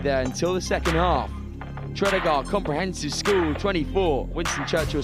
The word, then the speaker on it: Tredegar: I've just been told from down on the touchline that I've been pronouncing the winning school, their name wrong. Tredegar from Abergavenny. There we go. Sorry to all you Tredegar fans out there.